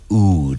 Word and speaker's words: oud: it what is the Middle Eastern oud or out UD oud it's UD it's um the ud